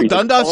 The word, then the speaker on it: Dundas: 4 miles all the way from like Upper Dundas. If I'm probably mispronouncing. No, Dundas is correct.